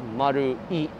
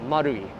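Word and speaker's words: Marui: So how you pronounce it is Maru-i. You don't say Ichi, you cut it off at I, so Maru-i. So it's Namba, Maru-i. Yeah, Maru-i.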